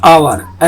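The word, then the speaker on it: hour: जैसे बता चुका हूं, Apple, an umbrella, an आवर, H silent है यहाँ, an honest man, एन एयर, an owner, an Indian, N अगली डॉग, एन एसयूवी।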